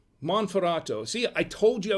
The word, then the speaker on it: Monferrato: tonight this is an er cole barbera del monteferrato monferrato see i told you i was gonna butcher